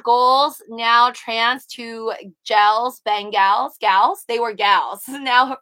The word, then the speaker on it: Bengals: ben ban fan gals ben gals not bean gals right or is it bean gals no it's ben gals i asked google how